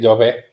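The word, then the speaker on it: Llovet: It's not Maria Lovett. It's what Maria, is it? Maria Love. Say that again. Love. Love. Love. Love. Love. Love. Love. Like a duvet, only a louvet? Yes, it's a Catalan name, so you have to pronounce it in the Catalan way, not in Spanish.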